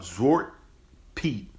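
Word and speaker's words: Zwarte Piet: to talk with about zort Pete z w a r t n p i t which uh is the same as Black Pete that's how you pronounce it in Dutch right now I'm going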